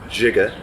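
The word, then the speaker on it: Žiga: Zigga Zupancake, but I think it's pronounced Jigga, like it's Ziga, but it's like Jigga Zupancake.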